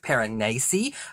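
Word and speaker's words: Piranesi: quickly next up is paranasi or it's written as per annesi but I believe it's pronounced paranese by Susanna Clarke this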